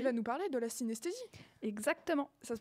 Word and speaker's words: synesthésie: va nous parler de la synesthésie. Exactement. Ça se prononce comme ça?